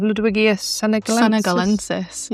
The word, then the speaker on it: Ludwigia senegalensis: Ludwigia senegalensis.